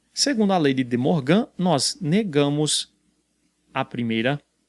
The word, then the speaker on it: De Morgan: leis a t e de morgan alguns pronunciam de mocam mas enfim faz leis